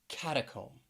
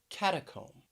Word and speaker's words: catacomb: about some words that have a silent letter at the end and i'm talking about the letter b and often this this letter will be silent when it comes after the letter m that mb combination so let's start with this first word which is catacomb catacomb three syllables stresses on the first syllable catacomb when i traveled